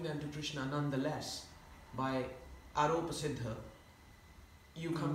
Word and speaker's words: aropa: to Krishna nonetheless, by aropa siddha. You come. Aropa means? Arop means an acquisition. How do you spell it? Aro. Arop, A-R, OP. A-R-O-P, long A-R-O-P.